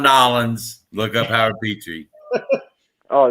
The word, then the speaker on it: New Orleans: you're ever down around new orleans and i said it right howard no new orleans you ever down around nolan's look up howard petrie